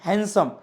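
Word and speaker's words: handsome: किती सुंदर आहे किती हँडसम आहे नो no know that is नॉट हँडसम दट इज हँडसम हँडसम so word काय असेल डी सायलेंट असेल सर आम्ही चुकीचं बोलत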